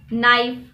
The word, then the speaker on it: knife: to the next letter the letter k k is always silent before an end at the beginning of the world for example knowledge knight knife moving on to the